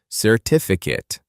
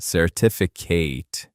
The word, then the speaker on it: certificate: As a noun, it is pronounced certificate, certificate, and it means an official paper that proves something.